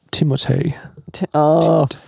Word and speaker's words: Timothée: Apparently, I saw an interview. It's pronounced Timothée.